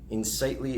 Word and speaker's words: Insightly: with is called insightly insightly is spelled i-n just like unsightly instead of an I so it's I